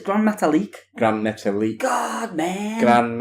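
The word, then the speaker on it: Gran Metalik: Has a match with Grand Metalik. Said it wrong, it's Grand Metalik.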